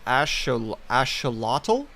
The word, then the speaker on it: axolotl: Okay, so you pronounce it axolotl?